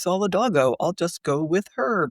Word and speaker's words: Solidago: In this case, I always had said solidgo until I started listening to you on that podcast recording. And I'm like, oh, maybe it's Solidago.